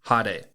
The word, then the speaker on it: hade: Today's Lance's Lessons is going to be the Japanese word for flashy, and that is hade. Hade is spelt H-A-D-E, and hade is very appropriate for this episode because our Hashira of the season is very flashy.